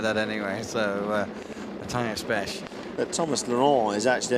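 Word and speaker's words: Beche: Prost and, how would you pronounce that? Besch, Matthias Besch.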